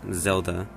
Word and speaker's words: Zelda: any harder either her english name is definitely pronounced zelda and her japanese name shown here is zeruda